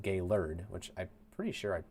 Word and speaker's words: Gaylord: Simon with a five euro super chat saying since you were talking about uh Traverse earlier gay lord is pronounced gay lur which I'm pretty sure